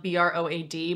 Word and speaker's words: Broad: And it's spelled B-R-O-A-D, but it's pronounced Broad because they named the whole line after museums, and this is the Broad Museum.